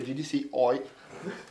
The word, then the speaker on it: GDC Eu: con la con l'apostrofo che Eu in tedesco si legge Oi quindi gdc oi gdc oi Allora cosa abbiamo abbiamo